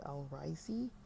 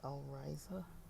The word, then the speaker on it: Al-Raisi: I think I was saying his name wrong. It's Ali Al-Raisi, not Ali Al-Raisa, but Ali Al-Raisi.